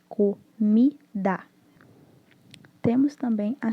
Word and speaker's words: comida: Das sílabas da palavra comida, a sílaba com maior tonicidade, que é a tônica, é a mi, que é de comida.